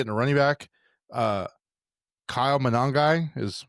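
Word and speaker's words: Monangai: Uh Kyle Manongi is how they said it.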